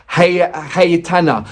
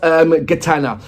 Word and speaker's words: Гайтана: This is Lonely Boss, and I'm going to say a pronunciation in the Ukrainian way. Gaitana, not Gaitana.